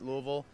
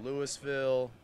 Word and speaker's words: Louisville: wrong now what's uh some of the variations that people say Louisville uh Louisville Louisville is the real Southern one and then just like the the one that's accepted everywhere as Louisville which one would get